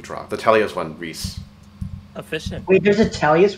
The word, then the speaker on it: Rhys: oh yeah no there's a guy named rhys who uh is supposed to be pronounced reese yeah r h by